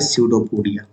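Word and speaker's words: pseudopodia: ठीक, इसको बोलते हैं बच्चों प्यार से स्यूडोपोडिया, और इसमें पी साइलेंट होता है, स्यूडोपोडिया।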